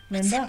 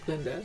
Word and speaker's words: Glinda: Linda? Simply Glinda.